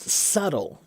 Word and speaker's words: subtle: We don't pronounce the B in subtle. Right? So when you say it, it's not subtle. It's just subtle.